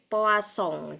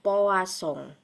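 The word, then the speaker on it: Poisson: Nah, sekarang yang akan saya terangkan adalah distribusi binomial dan distribusi poasong. Jadi, ini tulisannya poison gitu ya. Tapi kita biasanya membacanya adalah poasong.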